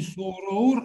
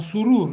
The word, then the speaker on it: Сурур: Во-вторых, не сороур, а сурур это читается.